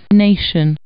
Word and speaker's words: nation: Nation. The letter T is pronounced sh in this word.